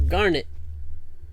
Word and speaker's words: Garnet: is your name oh my name is garnet rhymes with and rhymes with darn it smack it yep hayden's